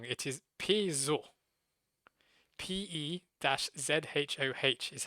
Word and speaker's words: Peugeot: So instead of the G, it's a Z.